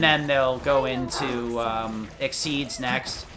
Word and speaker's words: Xyz: they'll go into um exceeds next xyz is pronounced exceed by the way i i don't know why they spelled it like that it's so obnoxious